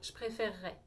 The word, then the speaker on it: préférerais: vais dire je préférerais si vous notez on a comme une syllabe en plus à la fin du verbe c'est comme si je disais je préfère je préfère ray je rajoute pas terminaison du conditionnel je préférerais avec nous